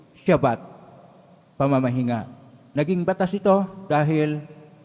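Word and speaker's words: שבת: ang tab ay t pero ang pagbigkas po dito ay shabat pamamahinga naging batas ito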